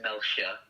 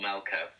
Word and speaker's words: Melcher: of that called Alex Melcher. We all end up saying Melcher or Melcher, but he was trying to teach me how to say it properly. He's like, Melcher.